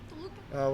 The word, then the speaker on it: Toluca: We'll see you December 5th, Mexico City, Toluca. Is that how you pronounce that? Yeah, Toluca.